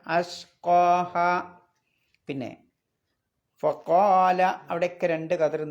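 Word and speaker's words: أَشْقَاهَا: പിന്നെ അഷ്ഖാഹ ഉച്ചരിക്കണം, കത്തിൻ്റെ ഹംസയാണ്. നേരത്തെ പറഞ്ഞ പോലെ അഷ്ഖയ എന്ന് ഓതാൻ പാടില്ല, അഷ്ഖാഹ.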